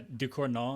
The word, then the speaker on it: Ducournau: Yeah, it's like Decorno. Yeah, Ducournau, I think.